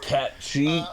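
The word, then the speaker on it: Cait: serious World very serious it's pronounced cat okay I mean I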